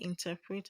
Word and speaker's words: interpret: Option A, interpret, has the stress on the second level.